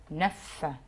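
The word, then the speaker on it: neuf: وعندي بعد كده رقم 9 اللي هي نف، الاف نطقناها في الاخر.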